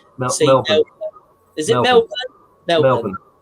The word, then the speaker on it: Melbourne: Paul, you need to correct Matt's pronunciation on how to say Melbourne.